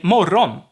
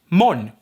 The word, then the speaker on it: morgon: is maybe not but if i say mo ron i'm not talking about here i'm talking about morrow so morning morgan means morning it turns into however it can also go one step further and the o gets dropped the last o so we get mon and there are meets